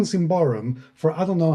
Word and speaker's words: Symbaroum: because I've been saying Symbaroum for I don't know how long, and it's Symbaroum. Yeah, I usually go for Treebeard in Peter Jackson's Lord of the Rings. Yeah, he goes Bararum. So that's Symbaroum.